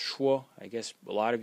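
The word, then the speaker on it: 说: into the next sub-series phonetic series when it's pronounced schwa i guess a lot of you recognize this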